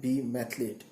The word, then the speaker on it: Be Mathlete: ये जो चैनल है दोस्तों, बी मैथलेट, इसका करेक्ट प्रोनाउंसिएशन है बी मैथलेट। जैसे कि ग्राउंड पे स्पोर्ट्स में जो चैंपियंस होते हैं, कोई भी गेम हो, उन्हें एथलीट कहते हैं, और मैथमेटिक्स में जो चैंपियन होते हैं उन्हें मैथलीट कहते हैं।